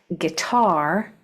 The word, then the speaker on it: guitar: If whatever syllable has the accent, that's the syllable that you say more strong, like table, the first syllable is accented, but guitar, that second syllable is accented.